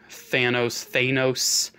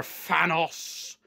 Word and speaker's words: Thanos: Ghost Rider, Doctor Doom, Thanos, however you want to pronounce it. I personally prefer Thanos.